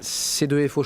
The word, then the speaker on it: C2FO: C2FO, je prononce bien C2FO ou pas? C2FO. C2FO, voilà. À l'anglais c'est mieux, enfin à l'américaine.